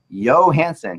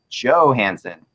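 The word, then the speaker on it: Johansen: What the heck are you doing when you keep calling the center for the Preds Johansson? He is not from Europe. It is pronounced Johansson.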